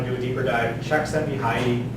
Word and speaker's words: Csikszentmihalyi: But if you're really interested in the topic, you want to do a deeper dive, Csikszentmihalyi, it's CZE and a whole bunch of other stuff.